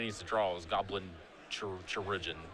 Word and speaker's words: Chirurgeon: What Danny needs to draw is Goblin Chirurgeon. How do you pronounce it? Is it literally just pronounced surgeon? It's like surgeon, but it's chirurgeon.